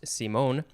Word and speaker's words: Simon: o n simone uh it looks like simon but it's pronounced simone and then the word